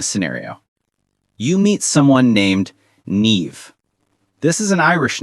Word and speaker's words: Niamh: "Hi, my name is Niamh." Niamh, that's a beautiful name. How do you spell that?